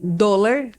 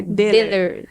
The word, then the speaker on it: Dohle: de origem alemã, então se escreve Dollar, né? Dollar. No português, mas como tem a trema no O, em alemão isso vira som de E. Então é Deller. Deller.